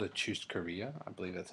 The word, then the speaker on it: churrascaria: And we went to Texas de Brazil, which, if you don't know, it's called a churrascaria. I believe that's how you pronounce it.